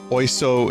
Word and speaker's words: oiseau: It's pronounced the same as Wiseau.